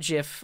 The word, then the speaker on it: GIF: close the stream because I say jiff with a soft G loading I need a